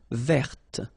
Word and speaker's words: verte: Feminine form, verte. So listen carefully. I don't say te, but it's t.